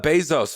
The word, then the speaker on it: Bezos: it's bad for elon feel bad for uh bezos feel bad for all these uh billionaires you